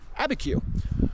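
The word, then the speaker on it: Abiquiú: Yes, I finally found some people from New Mexico and asked them how to pronounce that town. Abi Q IU. Abeku.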